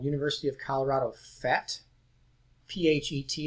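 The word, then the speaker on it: PhET: And this video is from a site called University of Colorado FET, P-H-E-T, it's spelled up there.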